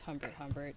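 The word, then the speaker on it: Humbert Humbert: People should know if they're reading the book that you're not supposed to agree with Humber Hbert.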